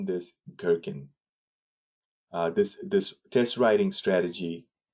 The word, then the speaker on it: Gherkin: Somebody decided to name this Gherkin. This test writing strategy called Gherkin. Some pronounce it Jerkins, but I've seen in the industry most folks at a higher level they say Gherkin.